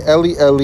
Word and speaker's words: Eli: for Elias alright so he's saying le le is the correct way to say my god in the Hebrew and not Allah yeah alright he said